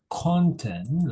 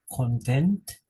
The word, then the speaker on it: content: differentiate the meaning okay like content the stress is the first Sy and content is the second at the second Sy digest and Digest okay